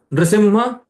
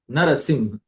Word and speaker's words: Narasimha: Not Singha also, Simha. Simha, Nrasimha, Narasimha.